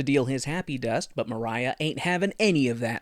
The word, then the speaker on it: Maria: M also it's funny it's spelled Maria but it's pronounced Mariah and it always throws me off because you know half it well not half part Italian.